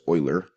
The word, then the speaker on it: Euler: France key here today I want to talk about Oilers method and the way you pronounce this is Euler kind of like Euler oh I le are right looks like you learned but Euler was a